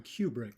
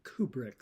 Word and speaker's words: Kubrick: And finally, I mispronounced the name of Stanley Kubrick. I called him Kubrick. It's actually Kubrick.